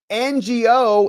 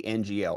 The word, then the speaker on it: Ngo: Don Andy NGO. It sounds like no.